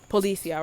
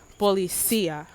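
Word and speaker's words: policía: see that word right, I would just pronounce it like regular, like policia, right? But it's really policia. Like there's an emphasis in like the middle of it or whatever. Bienvenido, Urbanacion Garcia Ubari.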